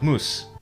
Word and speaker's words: moose: So today, in Standard English, you say mouse, but in Scots, you say moose.